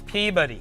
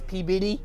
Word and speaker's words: Peabody: Will you say it right? Peabody. It's Peabody. It's all right, so in our Boston accents, it's Peabody.